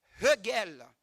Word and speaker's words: Hegel: Hegel, comme le dit Yves Dorissa, il prononce toujours le H.